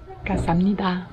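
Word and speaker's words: 감사합니다: Kasamnida. En fait, ça s'écrit avec un G et ça se prononce K.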